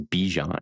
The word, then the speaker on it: Bijan: They made it a point to say the correct pronunciation of his name is Bijan.